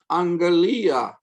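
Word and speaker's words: ἀγγελία: become children of god angelia notice that this is pronounced with an n sound two gammas together yep the promise the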